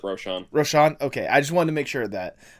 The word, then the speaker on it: Rochon: Tipsy, this is Rochon, or is it Rochon or Rochon? I pronounce it Rochon.